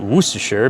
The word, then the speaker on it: Worcestershire: On my Instagram following, I had a guy from England tell me you pronounce it Worcestershire because that's how they pronounce it out there.